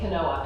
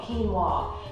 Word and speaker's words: quinoa: plant-based diet is quinoa most people don't even know how to pronounce this um they say quinoa and I said that for a long time as well but it's actually called quinoa this is an ancient